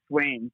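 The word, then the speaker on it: Swain's: And it was called Swanes, but it was spelled like SWAIN Mm-hmm. apostrophe S, like a last name of the person who owned the place.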